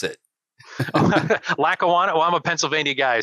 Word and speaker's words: Lackawanna: Can pronounce it. Lackawanna.